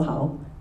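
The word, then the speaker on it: Hau: Um, so fun fact, my name is also how um but spelled with a U.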